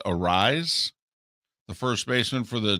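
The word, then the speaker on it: Arraez: Judge, with his performance last night and the fact that I think it's pronounced Arise, the first baseman for the Twins, who is just fading and falling apart.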